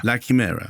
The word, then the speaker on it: La Chimera: It's your film, so you can pronounce it anyhow you like. I'm pronouncing it La Chimera. La Chimera, yeah.